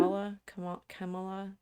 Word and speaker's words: Kamala: Kamala, It's like it's like Pamela. So Pamela, Kamala. Kamala.